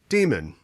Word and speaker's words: daemon: that it is uh you know pronounced daemon right to distinguish it from the idea of a christian demon right but it is just said demon it's pronounced demon yeah here this is